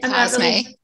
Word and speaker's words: Cosme: Is it Cosme? Is that how you say it? Yeah, Cosme.